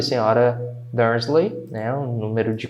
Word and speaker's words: Dursley: Dursley. Quando eu falo, tá? Termina com esse Y aqui, não é lei, tá? É li.